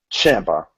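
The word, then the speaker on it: Ciampa: the comments but yeah and in what correct pronunciation smart master Gordon of that would be Johnny Gargano and Gargano and Champa Champa Champa yeah I apologize everybody for being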